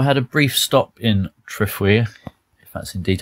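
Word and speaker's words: Trefwir: I think it's T-R-E-F-W-I-R. Threfwir. Threfwir? Yeah, it's not that hard, is it?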